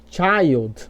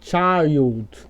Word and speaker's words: child: Aqui em child, você não vai falar ó, child. Você vai falar child.